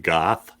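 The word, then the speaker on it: Gough: cast includes denise uh guff goff uh stephen curry and with a go or golf sometimes it's like van gogh they said uh and her bio it said it's pronounced goth which is like i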